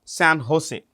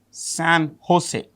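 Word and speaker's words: San José: The capital is San Jose. If you want the capital, San Jose. Okay. See, J is pronounced with an H. San Jose is the capital of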